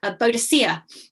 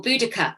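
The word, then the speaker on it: Boudica: at the people like bodacia um or boudicca you know the same person different pronunciations you look at these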